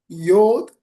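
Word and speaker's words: יוד: वाला द आएगा okay some people they pronounce योद्ध और युद्ध युद्ध वाई यू डी युद्ध कुछ लोग योद्ध और कुछ लोग युद्ध रूप से इसको उच्चारण करते हैं।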